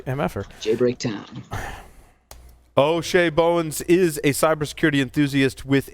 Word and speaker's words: Bowens: it's O'Shea O'Shea did I say bones or it's bones yeah I felt like I said it wrong mr.